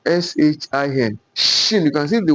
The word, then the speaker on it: shin: Then this one, shin, shin, shin, S-H-I-N, shin. You can see the way I articulated my word, my mouth. Sin, shin, shin.